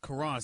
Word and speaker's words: Caron: I don't know how to pronounce his name. It's Caron, C-A-R-R-O-N.